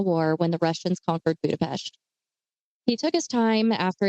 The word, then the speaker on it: Budapest: Because Peter was actually born in, I know that everybody hates how I say this, but I'm still going to say it correctly, Budapest. Budapest. No, it's Budapest, Hungary.